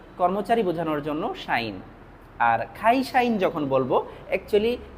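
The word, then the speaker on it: 会社員: আর খাইশাইন যখন বলব একচুয়ালি কাইশাইন। কাইশাইন। কিন্তু জাপানিজরা ক এর উচ্চারণগুলো খ এর মত করে থাকে।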